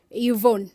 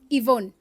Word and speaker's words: Yvonne: R represents Robert and Y represents Yvonne. If you actually, when you listen to her name, Yvonne, you may think her name should start with I, but in actual sense, it starts with Y.